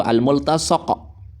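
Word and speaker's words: الملتصق: Kalau sekali lagi, kalau mau dimaknai yang dilekatkan, bacanya itu al-multasaq. Kalau al-multasik itu maknanya yang melekat, gitu ya.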